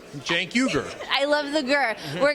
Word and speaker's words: Cenk Uygur: It's Cenk, like short for Jenkins, yes. Cenk. Then Uygur, Cenk Uygur.